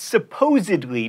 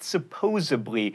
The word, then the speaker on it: supposedly: Definitely can be hard to pronounce, which is why I always go with most deaf, and it's supposedly, not supposably, and especially, not especially.